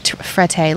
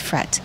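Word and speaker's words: Frette: they have I say I'm saying it wrong frede Linens but she's Italian says it's fret Fred Linens or just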